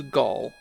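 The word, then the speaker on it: Galg: And it is Gall. The trailing G is silent.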